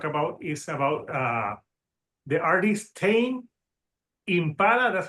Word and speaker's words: Tame Impala: So the album that we're going to talk about is about the artist Tame Impala. That's how you say it, right? Yep. Tame Impala.